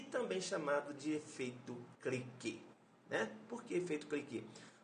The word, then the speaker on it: cliquet: Escreve-se cliquete, é parquete, mas a pronúncia é cliquet, né?